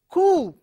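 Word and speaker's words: coup: For example, you take I have given 4 words here, C-O-U-P, and it is coo. The pronunciation is coo.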